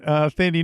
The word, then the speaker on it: Thandie: I think now we're saying Thandie. I believe it's pronounced Tandy most of the time because it's that.